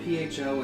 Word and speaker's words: pho: It's spelled P-H-O. It's pronounced pho.